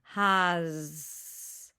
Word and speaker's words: has: S doesn't make sense. We hear an Z sound.